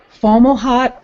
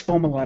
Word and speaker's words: Fomalhaut: a big discussion about whether it was formal hot or FOMA wat yeah yeah and it was lunchtime discussion we had and then they found a planet around it yeah yeah and then we had to really learned it yeah but I remember sitting here with Alan McRoberts going no it's Fomalhaut I know it is